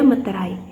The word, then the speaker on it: meterai: Kita masuk ke materi terakhir yaitu bea meterai. Di sini cara pengucapannya yaitu bea meterai menggunakan e.